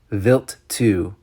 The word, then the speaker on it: Wild 2: NASA's Stardust probe to Comet wild 2 pronounced vilt 2 startled investigators with the best